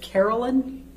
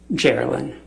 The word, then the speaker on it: Gerilyn: And you said it was Carolyn? Gerilyn. Gerilyn. Oh, Gerilyn. I got it. Okay. And what... I think it's pronounced Gerilyn. Okay.